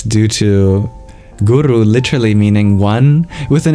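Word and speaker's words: गुरु: more a more mystical deconstruction of the word guru into the syllable goo and the syllable Ru let's explore that for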